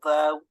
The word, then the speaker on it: though: these spellings so uh the silent GH thigh or though though also uses it of course so